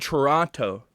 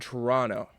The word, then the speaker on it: Toronto: This is like, what's massive to me is Canada and Toronto. Oh, damn, I just pronounced the second T. Fucking lock me up, bro. But Canada and Toronto are about to be the epicenter of the underground for an entire weekend.